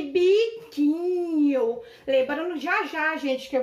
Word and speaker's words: biquinho: A palavra biquinho também, gente, ó, o U, ele não é pronunciado.